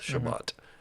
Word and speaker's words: Shabbat: how they say it Sabbath Shabbat I was in Tiberius right